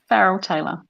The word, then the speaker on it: Farrel Tailor: it a quick try it's not fancy just how it's spelt i get so many people try and pronounce it really fancy and it's not it's just farrell taylor you're crazy for mob